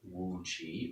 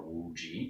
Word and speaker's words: Wu Ji: This first position is called Wu Qi or Wu Ji, depending on how you like to nerd out on your Chinese pronunciation.